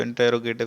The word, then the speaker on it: interrogative: सबसे पहले तो इंटरोगेटिव सेंटेंसेस या इंट्रोगेटिव जो प्रोनाउंसिएशन दोनों करेक्ट हैं, कोई भी कर लें आप, सही है।